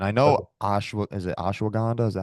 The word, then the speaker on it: ashwagandha: eat them and I know Ash is it ashwagandha is that how you pronounce it yeah yeah yeah I know that